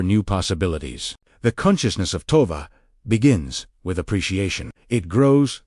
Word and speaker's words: Tova: Pronounce Tova slowly as Tova.